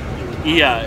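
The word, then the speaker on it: Oia: He's gonna show us Ia, it's called. It's spelled O-I-A, I think.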